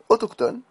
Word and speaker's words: autochtone: 6e erreur donc la les deux lettres C H dans certains mots le Che se prononce que exemple dicotomie kiasme charisme autochtone al monochromatique et et